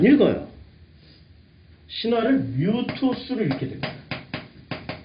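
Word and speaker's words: μῦθος: 신화를 뮤토스를 읽게 됩니다. 발음하기 좀 어려운데 무이토스로 읽게 됩니다.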